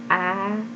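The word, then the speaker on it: ع: letter you see i pronounce it from deep parts of my throat so i would say ah yes it is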